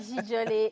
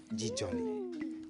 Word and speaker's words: Djidjolé: Comme j'ai l'habitude de le dire, on va rester avec Djidjolé et Mentor Ambulant.